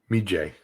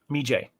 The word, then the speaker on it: Medjay: that you chase me how how do you say it me jay me jay all right it's good